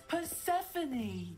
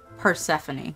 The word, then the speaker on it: Persephone: little rodent her name is her name is Persephone that's how you say that I've wondered for years how to pronounce that Persephone okay let's go Slytherin Slytherin Slytherin and that